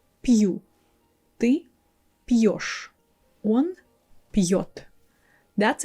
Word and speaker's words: пью: If we don't have a soft sign in these words, we pronounce it differently. Like this this word пью without soft sign, it sounds like пю. You see, that's already different from what we usually say when it has soft sign there - пью, пьёшь, пьёт.